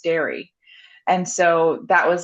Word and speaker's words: Darë: and um he said it's pronounced dairy.